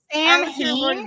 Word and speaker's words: Samhain: And then Loomis is like, Sam Hain. Okay, one big mispronunciation there, but I'm going to forgive it because it does look like Sam Hain. It's Samhain. Samhain, guys. All right.